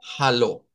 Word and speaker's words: hallo: Entonces, cuando veamos en Dutch, al igual que en el inglés, si hay una H así escrita en la transliteración, significa que debemos de sonarla. Y es donde decimos hallo.